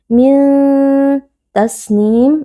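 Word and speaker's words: تسنيم: Min tasnim. Nah, di sini terdapat nun sukun yang berjumpa dengan huruf ta. Hukumnya adalah ikhfa hakiki. Cara membacanya, nun sukun disamarkan lalu dibaca dengan berdengung. Min tasnim.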